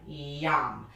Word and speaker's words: yam: going to be using the word yam y a m yum now that tones the heart chakra that's a Sanskrit syllable so when you use